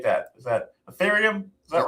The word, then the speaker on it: Ethereum: How do you pronunciate that? Is that Ethereum? Is that right? Ethereum, yeah.